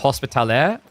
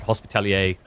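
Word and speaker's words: Hospitaller: It's meant to be pronounced Hospitalaire, but then because of like French inferences, it's like Hospitalier became popular. It's like a sub-dialect term for it. So the original is Hospitalaire.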